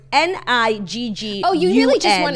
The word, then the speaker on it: Niggun: But it's pronounced Niggoon, like goon at the end.